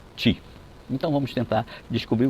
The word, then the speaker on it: chi: esse tal de ti se escreve i q I mas se pronuncia ti então vamos tentar descobrir